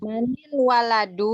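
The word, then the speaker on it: مَنِ الوَلَدُ: disatukan bacanya Manil. gimana kalau kalau Waladu gitu. Manil. Manil waladu. Manil.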